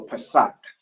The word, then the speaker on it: Pesach: Pesach. All right. So it's a ka at the end, so Pesach.